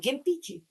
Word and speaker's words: gimpy: The main pitfall today was Is that how you say it? Gimpy? G I M P Y gimpy. It's like a guh, not a juh, right?